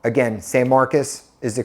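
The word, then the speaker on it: San Marcos: Sam Marcus or you guys like to say s Marcos Again Sam Marcus is the correct pronunciation and then one of my favorites is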